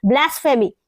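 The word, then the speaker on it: blasphemy: से आप कैसे बोलेंगे ब्लास फेमी ये पीएचई का मतलब फ फ आप इसको इस तरह से प्रोनाउंस करें क्या होगा ये पी नहीं बोलेंगे फ में आएगा क्योंकि इस तरह से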